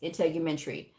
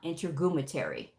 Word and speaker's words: integumentary: anatomy, medical terminology and all those things, you mispronounce words like basic medical terms, like integumentary is integumentary. It is not integumentary.